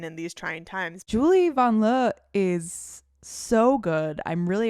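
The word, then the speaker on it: Vanloo: Julie Van Loo / Van Le. We learned during the Olympics that actually her name is pronounced Van Le. And we've been wrong.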